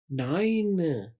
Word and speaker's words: nine: ये देखिए, नाई, न, नाइन। ई की यहाँ पर कोई आवाज नहीं है, लेकिन ई क्यों इस्तेमाल हुआ, ये आपको आने वाले लेसन्स में बता दिया जाएगा।